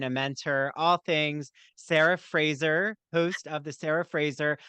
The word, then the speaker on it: Fraser: grandparents I don't know somehow it morphed into Frasier but it is actually pronounced Fraser it's like Brendan Fraser who I have to